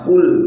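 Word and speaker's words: قُلْ: Nah, padahal makhraj atau tempat keluarnya huruf qaf berada di pangkal lidah, yang mana cara bacanya qul biasa, qul, bukan qul, bukan, tapi qul biasa. Nah, lidah bagian belakang terangkat.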